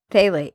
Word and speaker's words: phthalates: Thalates. He was saying it's a ph but it's pronounced phthalates.